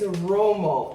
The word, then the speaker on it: Rummo: But I do wanna just say, I pronounced that wrong when I was, putting the spaghetti in the pot. This is the brand, it's Rummo. I don't know where I got Roma from, but it's Rummo.